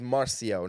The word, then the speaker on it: Marcio: It's not Marceau because that's what I said. It's supposed to be Marcio.